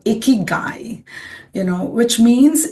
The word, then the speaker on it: Ikigai: Um we can also say iicky. So we have to learn to pronounce it's a Japanese concept. It's called icky guy, you know, which means